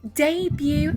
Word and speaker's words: debut: Просто ты не читается. Букет, балет. Помните, буфет? Французские слова такие, когда они не читается последняя гласная. То есть дебют читается debut.